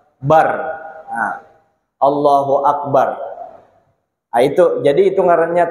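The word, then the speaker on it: الله أكبر: Dianuakan, dipasih-pasihkan, pokoknya bar ro di ujungnya dibaca tafkhim, dibaca tebal, Allahu Akbar, bar, nah, Allahu Akbar.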